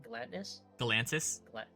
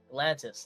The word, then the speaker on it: Galantis: How do you pronounce it? Galantis. Galantis. There you go. Galantis.